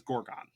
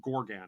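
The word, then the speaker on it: Gargon: is called a gorgon or or or a Gorgan one of the I always wrote it down as Gorgon okay but it's I think they pronounce it Gorgan it's a Gorgan and the entire reason why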